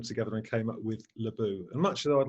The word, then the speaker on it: Leboo: of invitation and yet my company is called laboum media it's not French what happened is I've